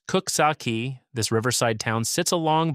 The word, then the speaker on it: Coxsackie: Number nine, Coxsackie, Greene County. Pronounced Cook-sock-key, this riverside town sits along the western bank of the Hudson, and it's got a personality that's hard to fake.